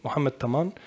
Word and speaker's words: Mohamed Taman: So as my brati just pronounced my name, Mohamed Taman, and Taman ka serbiskan, just Taman.